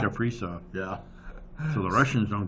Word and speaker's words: Kaprizov: I They mean, but got a guy hire extra security now just to keep an eye on how do you pronounce his name? Kaprizov. Kaprizov.